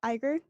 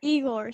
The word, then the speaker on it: Igor: tchaikovsky and uh how do you say that iger igor stravinsky eagle or stravinsky thank you um so the dancers go